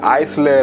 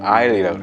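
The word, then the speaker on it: aisle: 그리고 오른쪽 자석 밑에 아이 슬레 라고 써있는 영어 있잖아 저건 묵음 임하는 다 나요 복도 쪽 좌석을 걷는다 너고 발음은 아예 야 다들 한번씩 따라해 보고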